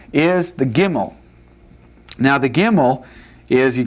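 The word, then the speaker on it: גימל: Gimel. Pronounce it.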